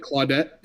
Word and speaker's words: Claudette: No, like like Claudette without the T on the end. Yeah. So, like Clawudette.